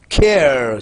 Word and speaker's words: care: You have so many words where E is there at the end, but E is not pronounced. Care, C-A-R-E.